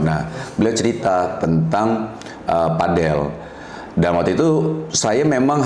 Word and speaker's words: padel: Aku tuh pernah ditegur sama ee istriku gara-gara ngomongnya pedel. Ee istriku bilang, "Sayang bukan pedel ngomongnya padel."